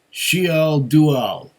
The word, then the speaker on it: Siol Dugall: and this one is called shiel dual at least that's how it says to pronounce it in these notes Here so she'll do